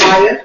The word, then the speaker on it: Mia: Item 5B, discuss and take action on a manufactured home variance for Mia at 670 Railroad. Hello, good afternoon. Hi. How are you? My name is Maya. George is spelled like Mia.